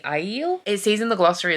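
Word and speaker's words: Aiel: that we know now is that how you pronounce ale I'm gonna check it because we know pronunciation is not how I think it's gonna be no it's the iel it sees in the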